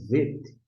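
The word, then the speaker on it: ב: Se você pronunciar aqui, ó, bater o olho, não tem um pontinho dentro, chamar de VET, VET, a palavra VET aqui, ó, em destaque, VET, começa com que letra?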